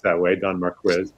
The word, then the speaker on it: Marquis: pronounced that way don marquez it's not more key huh all right okay